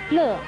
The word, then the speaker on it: 埒: 乐字的国语注音是乐，四声乐，乐恶乐，四声乐。